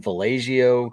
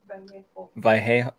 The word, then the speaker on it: Vallejo: Let's see, we have the Mad Hatter Holiday Parade and Festival in Vallejo, California on December 4th. Wait. Vallejo. Oh, okay, yeah, Vallejo.